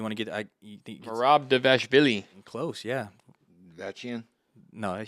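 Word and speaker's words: Merab Dvalishvili: You think Marab Devashvili.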